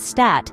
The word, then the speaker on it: Stadt: So, spiel is pronounced as spiel and stat as stat.